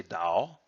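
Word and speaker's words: 刀: it says pinyin that's the the Chinese pronunciation pronunciation of this character and they would say Tao which means which means blade in fact the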